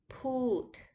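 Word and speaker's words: พูด: next to say put put is a falling tone put you start higher and then you go lower yes put to say to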